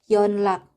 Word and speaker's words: 연락: Nah, yang terakhir huruf nian dia akan dibaca L jika huruf nian ini bertemu dengan huruf L. Contohnya 연락. jadinya 연락.